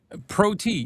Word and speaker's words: PROT: Red cabin prote. Yeah, that's that's the way they spell it. P R O T. Pro T.